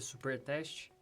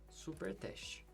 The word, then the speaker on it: supertest: npm install --save jest espaço supertest. Lembrando que tanto jest quanto supertest o T é mudo, como vocês podem ver aí na tela.